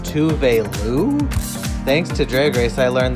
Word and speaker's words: Tove Lo: and we all found out that we've been pronouncing tough low wrong that's how you pronounce tough low tough low is pronounced touvelu thanks to dragrace i learned that i have